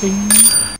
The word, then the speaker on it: 丁: The sound ding is the pronunciation of this character.